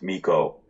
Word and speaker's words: Mico: And do I pronounce your name Mo? You got it. It's pronounced Mo.